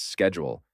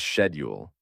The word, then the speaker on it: schedule: I was so confused the first time I heard a Brit pronounce schedule as schedule.